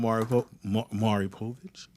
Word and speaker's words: Maury Povich: I watched that show on Maury Povich.